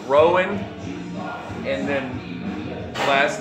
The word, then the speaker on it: Rowan: The guy that works for Alex Jones, whose name, first name would rhyme with how you would row a boat, Rowan, and then last name is Schroyer.